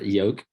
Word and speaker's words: yolk: unbiased truth opinion uh-huh yolk So Christine says yolk not yolk oh you're gonna tell me English has the same rules throughout I'm just saying you don't always pronounce all the letters in the English language okay complete the complete